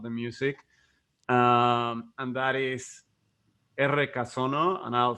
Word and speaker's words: Errekasono: And that is R Casono, and I'll spell that because it's in Basque, and it means creek sounds, which arroyo, it means creek.